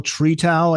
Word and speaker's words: Tretow: Engineer Michael Tretow, I think is the pronunciation.